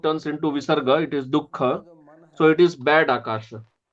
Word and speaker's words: dukha: And du and kha, that is dukha, it is also made with two aksharas.